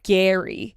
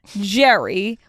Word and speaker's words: Gerry: this man's name is Gary but it's spelled g r r y we should have started there why is it not pronounced Jerry with a J we should have never